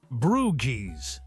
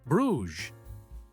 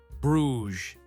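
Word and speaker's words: Bruges: An American man was trying to buy a ticket to Brues, except he kept pronouncing it. Brewies.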